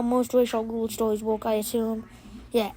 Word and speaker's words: Ra's al Ghul: But then in the Bale trilogy, he's pronounced Ra's al Ghul, and Ra's al Ghul is how he, should be pronounced, but I don't care.